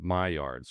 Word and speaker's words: Maillard: Um the word is pronounced Maillard's correctly. It's I believe it's a French word.